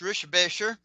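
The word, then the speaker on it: Richebächer: Um, I've actually met Kurt Rickbacher, which is actually pronounced Rishbasher.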